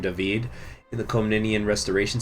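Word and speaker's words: David: pronunciation of the name dahveed in the comb Ninian restoration series here's the thing that is how d-a-v-i-d is pronounced in just about every language that i've been able to find except for English because English is really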